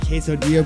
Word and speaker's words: quesodia: play on my name it's uh quesodia but it's spelled c-a-s-o-d-y-a yes we're having a lot